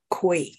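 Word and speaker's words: Kwai: Bridge on the River Kauai you should pronounce it as koi okay yeah probably by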